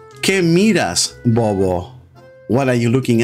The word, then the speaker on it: miras: So instead of saying, "¿Qué miras, bobo?" in Argentina, they say, "¿Qué miras, bobo?" So the second syllable of miras is emphasized.